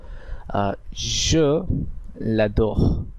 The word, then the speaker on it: je l'adore: এরপরে এক্সপ্রেশনটিতে আমরা যেটা দেখতে পাচ্ছি সেটি হলো je l'adore, je l'adore।